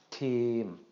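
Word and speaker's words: ทีม: So this is going to be pronounced team, team, team. Okay, the word team in Thai actually is team in English. Okay, just a carryover, I believe, into Thai. Then our final example, we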